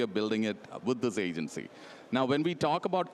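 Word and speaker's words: AGNTCY: As you can see here, spelled slightly differently, pronounced agency, with the vision to build this open, interoperable Internet of Agents.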